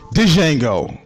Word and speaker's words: Django: Django. With the D. The D is silent.